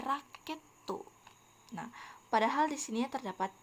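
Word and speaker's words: ラケット: Nah, raket ini jika dirubah ke dalam pelafalan Jepang, dia akan menjadi raketu.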